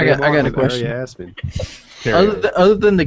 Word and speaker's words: Aria Aspen: Is it pronounced Aria Aspen?